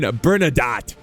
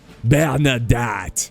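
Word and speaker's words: Bernadotte: Bern Bernard why can't I say his name bernadat bernadat there you go uh so he's leading this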